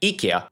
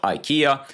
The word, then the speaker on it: IKEA: And at number 10, we move to a country that founded IKEA. That's actually the right pronunciation, not IKEA.